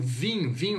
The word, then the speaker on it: vin: Quando a gente pronuncia o vinho, esse IN ele tem som de an, atil, an.